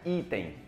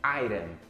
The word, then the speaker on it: item: Iron, que significa item. Não é item, é iron. Essa é a pronúncia certa.